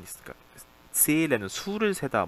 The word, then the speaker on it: zählen: zahlen하고 다르죠. zählen이죠. zählen. 자, 이때도 보니까 모음 뒤에 하가 붙어 있으니까 앞에는 길게 해서 zählen.